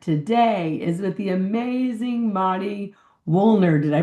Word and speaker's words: Mari Wuelln: Our conversation to connect today is with the amazing Madi Wollner. Did I pronounce that right, Madi?